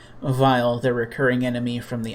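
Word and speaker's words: Weil: was intentional but like his name looks like wiley but it's pronounced like vile and he's still the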